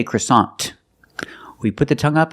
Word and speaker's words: croissant: and I bought a in American English we do not say that's French in English American English we say croissant croissant the first vowel is a short sound uh CR CR CR CR CR CR CR the second syllable is a like hot and stop so together CA croissant croissant is the American pronunciation of this word we